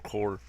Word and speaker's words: Corps: one of my pet peeves is when people pronounce Corps corpse co RPS it's pronounced Corps when I was